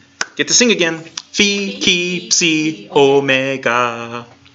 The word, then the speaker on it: omega: Oh Meg and the Omega sounds like the O in tone it's a long Oh sound and it is always a long o sound so it's not like